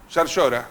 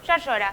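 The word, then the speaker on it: Llaryora: El caso de Córdoba, por ejemplo, Martín Yarlora, ¿vos cómo lo pronunciás? Yarlora. Yarlora.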